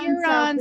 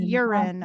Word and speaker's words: Huron: I lived in my hometown for a little while, and that was Huron, South Dakota. Hot town, you guys. You can tell because people mispronounced it urine on purpose.